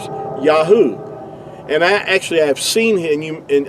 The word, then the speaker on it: Yahuah: These first three letters here, going from right to left, is going to give you Yahuah. Yahuah.